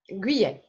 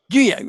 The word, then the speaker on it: Guyet: Pronounce your last name. Guyet. Guyet.